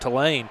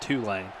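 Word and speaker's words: Tulane: yeah John I hope to Lane to Lane I think Richard said two lane I was saying it wrong hope uh hope two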